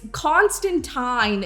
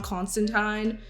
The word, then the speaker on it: Constantine: So, it's Constantine is how you pronounce the comic book character's name, John Constantine.